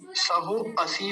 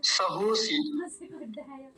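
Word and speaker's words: सहोऽसि: और अंतिम वाक्य देखिए सहोसी सहोसी सहो असी नहीं सहोसी ठीक है सहोसी बस जैसा लिखा है वैसे ही बोलना है सहोसी सहो म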